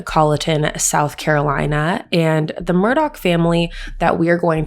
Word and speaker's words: Murdaugh: it is spelt murdoch but it is correctly pronounced murdoch so that's the first one and the father